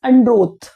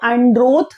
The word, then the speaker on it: Androth: What happens is andro that's how we pronounce it. It is not an English word. It is a Hindi word basically. So androth.